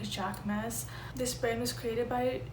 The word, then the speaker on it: Jacquemus: the brand jachmus um i think that's how you pronounce it because he is a french designer and this is a french brand i know if you're in america we pronounce it like jack mass this brand was created